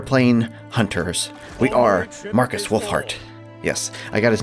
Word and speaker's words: Wulfhart: and we are playing hunters we are Markus wolf heart yes I got his name right Ulfric wolf